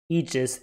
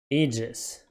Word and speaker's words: aegis: and pretty much all the dictionaries agree that aegis is the only correct pronunciation in english aegis aegis aegis aegis aegis american english aegis aegis aegis aegis aegis american english also aegis is always ages ages well every dictionary agrees on this aegis pronunciation